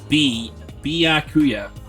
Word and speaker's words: Byakuya: B-ya. So not Baya in any way. It's B. Byakuya.